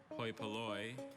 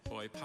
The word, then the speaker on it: hoi polloi: There are two variant pronunciations. There's hoi polloi and hoi polloi.